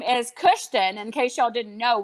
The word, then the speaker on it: Kushton: But my son's name is Kushton. In case y'all didn't know, we spell it. I did not know. It's awesome. It's Kushton.